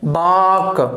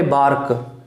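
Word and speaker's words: bark: आर्ट, ये ध्यान रखना, मैंने पहले भी चर्चा की थी कि वोल के साथ यदि आर आता है तो वो हमेशा साइलेंट रहता है। बाक, नॉट ए बार्क, क्लियर है, बाक, बाक,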